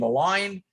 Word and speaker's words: Align: Now, I happen to like the name Align because I'm a chiropractor. I think it's perfect and it rhymes with Klein.